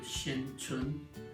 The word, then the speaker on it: Hsin-Chuen: My last name is, L-I-N, and first name Hsin-Chuen is my full name.